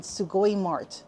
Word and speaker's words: Sugoi Mart: that's spelled B O K S U, and Sugoi Mart, which is spelled S U G O I, and then M A R T.